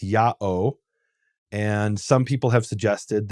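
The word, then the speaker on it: ΙΑΩ: Book of Leviticus where the name is written Yota Alpha Omega which is pronounced Yao and some people have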